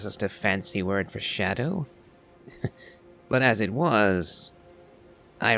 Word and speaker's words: Scadutree: behind me see I was reading the name phonetically hence scadu tree but that is not the actual way to